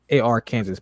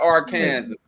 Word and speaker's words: Arkansas: do basketball how Kansas is pronounced Kansas Arkansas is spelled AR Kansas but it's spelled it's pronounced Arkansas that's weird